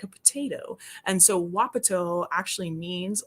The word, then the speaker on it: wapato: place in Oregon is called wapato, or sometimes people pronounce it wapatu, depending on where you are.